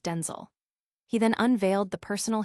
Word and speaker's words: Denzel: his honor adding because my name is not pronounced Denzel. My name is pronounced Denel.